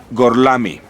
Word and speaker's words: Gorlami: Gorlomi, ¿lo pronuncio correctamente? Sí, correcto. Gorlami.